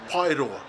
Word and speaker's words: Paeroa: nearby moldy place names Pyrrha of this town here is called pyroar the full name of